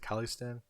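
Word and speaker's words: Khalistan: of based off kill i think you pronounce it kalistan which is like uh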